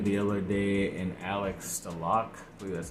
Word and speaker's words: Stalock: a veteran goalie the other day and Alex stalock that's how you say it I think it